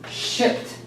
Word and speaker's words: shipped: And of course, please pronounce the word shipped. Pronounce the P and the T. Shipped.